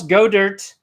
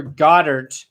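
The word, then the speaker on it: Goedert: that looks like Dallas go dirt or Goddard depending on how you say it I say go but he's already got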